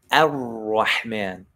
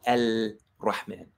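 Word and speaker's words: الرحمن: Ar-Rahman. There's no al-Rahman. It's Ar-Rahman.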